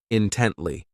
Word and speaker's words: intently: This adverb has 3 syllables, and the stress is on that second syllable, intently.